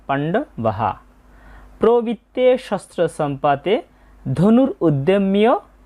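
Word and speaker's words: পাণ্ডবাঃ: তাই এখানে হবে ধনুর উদ্দিয়মিয় ধনুর উদ্দিয়মিয় এবং এই লাইনে সর্বশেষ শব্দ হচ্ছে পান্ডবাহা বাক্যের শেষে বিসর্গ থাকলে সেই বিসর্গের উচ্চারণটা পুরোহের মত হয় তাই হবে এর উচ্চারণটা পান্ডবাহা প্রবিত্তে শস্ত্র সম্পাতে ধনুর উদ্যমীয় পান্ডবাহা আমরা দুইটা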